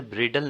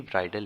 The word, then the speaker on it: bridle: ब्राइडल और ब्राइडल, इसे ब्रिडल नहीं प्रोनाउंस करेंगे, इसे भी ब्राइडल ही प्रोनाउंस करेंगे.